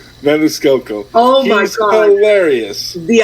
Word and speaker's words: Maniscalco: I'm glad you said it first because I can never pronounce his last name. Maniscalco.